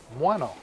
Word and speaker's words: Muano: I used to say Muano, but I was sent an audio file, and they said, this is how you say it, Muano.